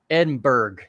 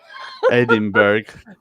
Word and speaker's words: Edinburgh: and we call it Edinburgh Edinburgh yeah we call it anything with b-u-r-g-h in America it's Berg and that's a lot